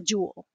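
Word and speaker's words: joule: that it's j and it's a jewel it sounds just like a jewel like a diamond or something it's not spelled the same way but worry about that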